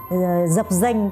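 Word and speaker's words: dập dềnh: "Dap denh" (float slightly on the water surface) not "zap zenh" for example.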